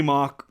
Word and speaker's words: Mauch: Cody Malk, I think is how we're saying it now, how it's supposed to be pronounced, out of North Dakota State.